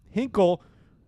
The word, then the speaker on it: Hinkle: never met me, but Hinkle rhymes with Tinkle and the students love to call me Mr.